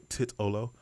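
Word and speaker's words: Titolo: at tit Olo and I know people tell me I'm saying that wrong but I'm saying it right according to It's pronounced I don't care I think it should be pronounced tit Olo uh it's pronounced tit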